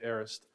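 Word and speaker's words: aorist: now well that in in Greek it would probably be pronounced a little bit more like what you said it but in English we usually just say arist um but the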